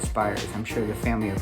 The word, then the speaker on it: Spiers: and there are no how do you say it spears spires everybody says it different i call it spires i'm sure the family